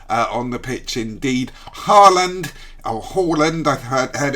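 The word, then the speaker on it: Haaland: uh very nice uh on the pitch indeed harland or holland i've heard heard it pronounced by um native speakers holland is absolutely incredible he is obviously uh some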